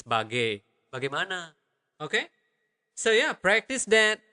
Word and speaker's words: bagaimana: Bagaimana. Bagaimana. Okay, the normal speed would be bagaimana, bagaimana. So, it is not bagai when you saying it quickly. It's bagai. Bagaimana.